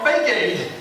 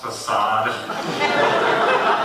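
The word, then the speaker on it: façade: "But I don't want to scratch my fake aid." "It's pronounced facade.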